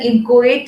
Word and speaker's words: inchoate: Next is an inchoate instrument. Please be very particular about the pronunciation over here. It is inchoate.